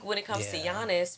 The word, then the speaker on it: Giannis: Giannis, first off, the name rhymes with honest. Honest to honest, for real.